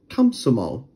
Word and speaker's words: Komsomol: english however if they are unstressed like this one it actually turns into an a so technically we should be saying kamsomol have fun capsule or